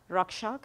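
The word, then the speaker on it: Raxak: So one is called Cloud Rakshak. It's Cloud, C-L-O-E-D. Rakshak is spelled R-A-X-A-K.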